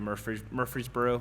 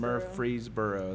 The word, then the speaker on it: Murfreesboro: the Nashville Metro Area Murfreesboro that's a hard word to say by the way we're freezing Murfreesboro there's a drum corps show